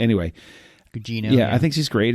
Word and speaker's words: Gugino: Yeah, that's how you pronounce her last name. Anyway, Gugino.